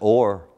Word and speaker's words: hour: Opie in original pronunciation the word hour is pronounced or or say it with me